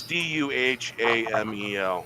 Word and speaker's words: Duhamel: No, Josh Duhamel, right? Yeah, it's Duhamel. It's really hard to pronounce.